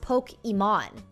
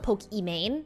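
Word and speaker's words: Pokimane: name is actually iman so her username is actually pronounced poke iman because her name is iman even though people call it pokeymane it's iman what's going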